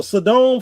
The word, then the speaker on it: Sodom: So Sodom, for those that's listening in, if you haven't figured it out yet, that is Sodom. Sodom and Gomorrah. I say Sodom.